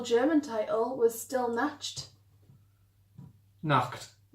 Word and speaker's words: Nacht: Nacht. Yeah. That's how you pronounce night.